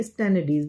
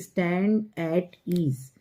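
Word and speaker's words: stand at ease: वहाँ पर हम बोलते हैं स्टैंडर्डीज, लेकिन उसका जो सही प्रोनाउंसिएशन होता है दैट इज स्टैंड एट ईज।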